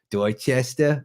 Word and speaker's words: Dorchester: I figure you have to kind of not pronounce all the letters. That's how you say Dorchester the right way.